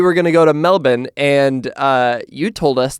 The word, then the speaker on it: Melbourne: to Melbourne which is the Australian way of saying Melbourne um I see what you did there yeah you like that that's that's how we Americans say it Melbourne well it's the it's the correct way of saying it we're just lazy and we shorten everything to Melbourne if your name's